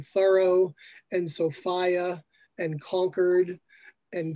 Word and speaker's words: Thoreau: i had to learn to at least say some things in the new england dialect including thorough and sophia and concord